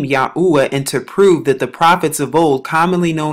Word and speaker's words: Yahuah: it has four letters right here and it's pronounced yahuwah yahuwah although sanskrit is a very old language there